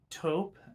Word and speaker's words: taupe: Now, if you are a summer, like myself, you choose more smoky, softer, lighter eyeshadows like taupe. I never know how to pronounce that word without sounding too posh.